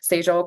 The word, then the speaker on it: $EJ: Um, it's pronounced Sage. First three letters of my name.